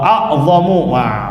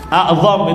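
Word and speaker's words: أعظم: Wa a'zamu, kurang titik lagi itu. Dan kurang titik, tambahin titik ya. A'zam itu bacanya, bukan. Ya benar, afwan. Enggak salah ya?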